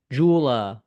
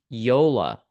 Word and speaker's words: Joola: so first of all I know that myself included have said Jula or YULA it is Yola so that is how we pronounce the name correctly so with that being